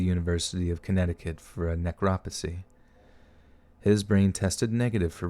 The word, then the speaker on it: necropsy: for a new crop necropsy net crop see three syllables okay and the body was taken to the University of Connecticut for a necropsy god I sounded like